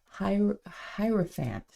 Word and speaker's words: Hierophant: And I was like, I want to go online and see like how do they pronounce it. So it's Hierophant.